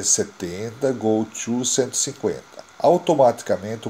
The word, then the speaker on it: GOTO: que determina o salto é gosto pronuncia Goto do inglês ir para lá para